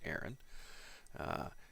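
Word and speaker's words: Eran: I don't know if I've butchered his name or not, but it's E-R-A-N, so I'm pretty sure that's pronounced Aaron.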